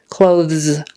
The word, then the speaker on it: clothes: weird thz clothes clothes so to shorten it people tend to just say Z clothes clothes clothes I mean you can stick out your tongue clothes clothes clothes most people get lazy and just say clothes clothes um if the tongue